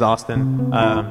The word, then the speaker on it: ASTN: Yeah, for those of you who don't know me, my name is Austin. It's spelled A-S-T-N.